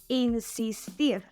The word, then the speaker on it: insistir: Insist, insistir. In this example, we just added "ir" in the last position, and again, the stressed syllable is in the last position.